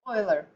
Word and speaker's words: Euler: Isn't that a goofy way to pronounce that word? Euler. Okay, I always wanted to call it Euler because I'm such a German background person, but it's Euler.